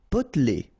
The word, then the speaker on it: potelé: Potelé. Okay, here you don't really pronounce this E.